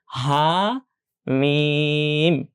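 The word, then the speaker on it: حم: আমরা বলেছি আলিফ এবং হামজা ছাড়া সব টেনে পড়তে হয়। তাই মিম এই বর্ণটাকে টেনে পড়তে হবে। ঠিক। তার আগে হা এটাকেও টেনে পড়তে হবে। হা মিম হা মিম এটা খুব গুরুত্বপূর্ণ।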